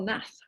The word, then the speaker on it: Nath: Michael Nath. Rhymes with Bath, I've been reliably informed. Thank you. Raff, but not Roth. Thank you.